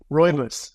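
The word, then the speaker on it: rooibos: how do you say that one more time ryus ryus okay here we go yeah Blackberry Roy buus yeah and those evening tees are great they're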